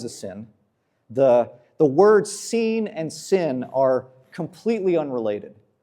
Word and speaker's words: Sin: And quick side note, the the name of this god is pronounced seen, not sin.